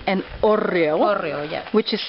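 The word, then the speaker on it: hórreo: This wooden structure here is called an horreo. Horreo, yes. Which is spelled H-O-R-R-E-O, yes, correct?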